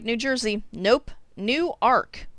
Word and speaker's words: Newark: pronunciation of farina not newark like new jersey nope new ark like noah just went out and got himself a bigger boat newark orion like orion's